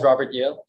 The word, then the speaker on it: Robert Yale: May I have him pronounce his name and give us his address? Sure. My name is Robert Yale, ROBERT YALE.